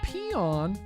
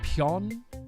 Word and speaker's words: Peon: It's actually pronounced Pion. Like there's supposed to be like a little umlaut over the O there. So it's like Pion. Pion. Pion. I think it's German in origin there.